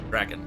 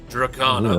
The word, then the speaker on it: Drakan: But see, Drakan is not. I'm doing two different pronunciations of the same vowel instead of going Draken, which is how I should be doing it. But I have said Drakan.